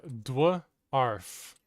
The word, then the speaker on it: dwarf: Now say elf, but start with the letters D and W. Wheel. That is how you pronounce dwarf.